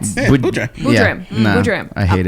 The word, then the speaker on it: Boodram: It's just Boodram. It's phonetically correct. Boodram.